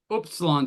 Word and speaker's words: upsilon: Upsilon is oo, oo, and this is oo. It's like flatter. It's and I don't really care. If you pronounce them the same, doesn't matter to me. But that's very common. The diphthong is more like English. The OU is it's more like English, and the upsilon's more like a French U.